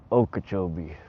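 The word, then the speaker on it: Okeechobee: Dirty 30 Dan taught you a Okachchobee. I say it like a local Okachobee.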